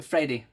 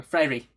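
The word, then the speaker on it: Freire: below the translation the the pronunciation is freddy or freiry really yeah it's got it's kind of weird for us so we're not used to i guess portuguese but uh it's probably mostly mostly frairy flailing but i mean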